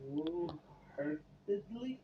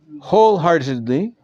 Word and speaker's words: wholeheartedly: As some Jews not null the chametz wholeheartedly. Good. And subsequently keep it in their homes to eat after Pesach. Since they had not annulled the chametz wholeheartedly. The W is silent.